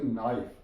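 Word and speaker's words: knife: के एन आई एफ ई, के silent या नाइफ।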